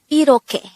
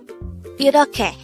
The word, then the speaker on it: 이렇게: study about the word iroke. Let's start. Learn Korean one word at a time, only here at Dae-Hangul. Word number 136. Iroke. Iroke. This is pronounced as a three-syllable word.